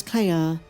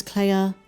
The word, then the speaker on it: Kleya: And because her name is Cla, which sounds like Leia, it's another sibling duo who was separated when they were very young.